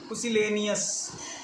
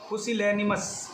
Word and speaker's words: pusillanimous: माउजी, या एक सिनोनिम और हो सकता है पुसिलेनियस। I repeat, पुसिलेनिमस। सॉरी, पहले मैंने मिस प्रोनाउंस कर दिया था, मैं फिर से रिपीट कर रहा हूँ, पुसिलेनिमस।